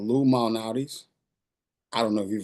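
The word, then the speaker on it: Lou Malnati's: used to but there's a restaurant here called Lum malais I don't know if you've heard of it Lattis and pronounce it Lum illuminatis it's not Illuminati it's illuminatis it's Lou mtis it's and I eat my I have my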